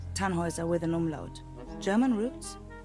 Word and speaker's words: Tannhauser: what's your name Tannhauser we'd pronounce it tan Wazza with an armload German